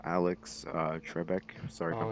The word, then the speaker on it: Trebek: happened a day ago and how alex uh trebek sorry i'm pronouncing that wrong no that's that's how you